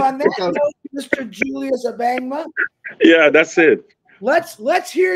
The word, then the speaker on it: Abangma: his last name is, if I say it wrong, you can laugh at me, Abangma? Is that how you say it? Wonderful, wonderful. You got it right.